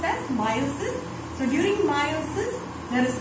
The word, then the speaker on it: meiosis: You have studied about meiosis, that is, meiosis you should actually pronounce as meiosis.